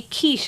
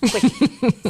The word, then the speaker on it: quiche: And then, and it's a funny story where basically they go into a restaurant, they see quiche on the menu, and they think it's pronounced quickie.